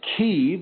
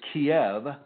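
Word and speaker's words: Kyiv: from the city of keave which the Americans mispronounce as Kiev and I would like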